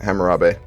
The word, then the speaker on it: Hammurabi: do so actually do you pronounce hammurabi not to be rude i just don't want to stick around saying harambe yeah everyone says ranbir when they don't know how to say my name is hammurabi that's how i say it hammurabi got it